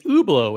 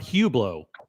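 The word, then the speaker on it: Hublot: overwhelming the poll is over 85% of you say it's ublau it's not Hubllo okay so I'm not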